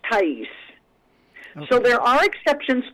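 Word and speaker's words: Thaïs: And kind of like her name is Thai with the umlaut, little dots over it, and S. And that's pronounced Thais.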